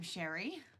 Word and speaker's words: Cheri: and allergic to peanuts I'm Cheri rhymes with canary in a past life